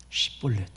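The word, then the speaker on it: שִׁבֹּלֶת: 쉬볼렛. 이 단어가 뭐 특별한 의미가 있는 것은 아니고 그냥 작은 시냇물이라는 뜻입니다. 근데 이 발음이 안 돼. 쉬볼렛 하면 에브라임 사람들은 시볼렛이라고 부릅니다.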